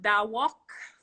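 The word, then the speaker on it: Dah Wuk: I'm using the song Da Walk from Kess. It's spelled D-A-H-W-U-K.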